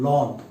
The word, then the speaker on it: ln: लॉग ये base ई का होता है, इसलिए इसको ln भी लिख सकते हैं, natural logarithm ln लॉन। Okay, लॉन उच्चारण करेंगे।